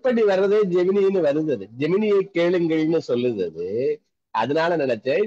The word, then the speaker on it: Gemini: Morning சொல்லி, அந்த பிக்சர்ல ஜெமினில ட்ரா பண்ணது தான், ஜெமினி வரைக்கும் கொடுத்தோம். கரெக்டா ஸ்பெசிஃபிகேஷன் கிளியரா கொடுத்தோமா? ஜெமினி கிடையாது சார், ஜெமினாய். It should be pronounced as Gemini.